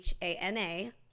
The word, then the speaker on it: Hana: It's HANA. I have to spell it because everyone calls me Hannah. So it's Hana.